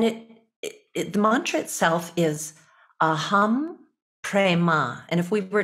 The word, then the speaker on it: Aham: familiar with and it the Mantra itself is a hum Prema and if we were to spell it using our Roman letters we would spell